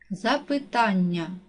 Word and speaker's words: запитання: падає на другий склад запитання наголос падає на третій склад однаковий наголос падає на